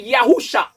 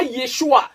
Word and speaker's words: Yahusha: Donc, Yahweh est déjà une mauvaise prononciation. Et si on va aller du nom du Fils, qui est Yahusha, pas Yeshua, parce qu'en hébreu authentique, E n'existe pas. Donc, le Yé vient chercher quoi?